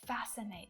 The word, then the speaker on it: fascinate: Different scientific scenarios fascinate me. It's that letter C. It's usually silent when it appears after an S.